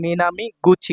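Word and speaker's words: 南口: সাথে থাকবে তখন হবে মিনামি গুচি গুচি উচ্চারণ হবে হ্যাঁ গুচি কুচি মিনামি গুছি অর্থাৎ দক্ষিণ দরজা বা দক্ষিণ দিকের গেট।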